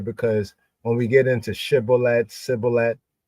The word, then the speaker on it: shibboleth: So they said to him, say shibboleth. And he said sibboleth, for he could not frame it right. Then they took. Well, the full is because he could not pronounce the word correctly.